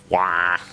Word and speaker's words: Roy: Basically, legendary goalie and franchise player for Montreal Canadiens, Patrick Roy, pronounced Patrick Wah, let out a dry